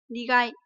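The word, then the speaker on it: 苦い: Thì với cái từ này thì chúng ta sẽ được đọc là gì? Nigai.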